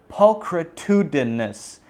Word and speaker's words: pulchritudinous: But just in case, let's do a quick rundown on the pronunciation. Pulchritudinous.